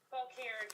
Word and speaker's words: Fauquier: It is in Fauquier, Virginia. Is that how you say it? Fauquier County, yeah.